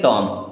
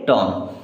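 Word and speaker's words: tomb: पढ़ पाएंगे देखिए जैसे एम के बाद में बी तो बी साइलेंट हो जाएगा अब टी ओ एम बचा अब इसे पढ़ेंगे टॉम क्या पढ़ेंगे टॉम के एन आई एफ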